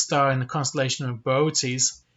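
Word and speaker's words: Boötes: in the constellation of beauties and yes that is actually how you say it not booties um also known as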